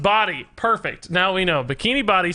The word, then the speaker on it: Bodhi: He is a pro player and his name is pronounced Body.